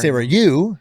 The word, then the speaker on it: Sarayu: It's the accent being on the first syllable that really Right. If it It's was too like much like for- Sarayu, people might or be like Sarayu.